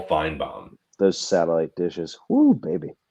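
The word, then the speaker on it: Finebaum: don't know why you're calling him fom sorry he prob he probably heard me Mis mispronounce his name it's Paul fine bomb those satellite dishes who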